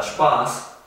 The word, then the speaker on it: Spaß: En cambio la palabra Spaß, la A es un poco más larga.